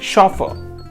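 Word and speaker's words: chauffeur: तो हमारा आज का सातवां वर्ड है शॉफ। इसमें देखिएगा आर साइलेंट रहेगा प्रोनंसिएशन में। शॉफ नहीं होगा शॉफ।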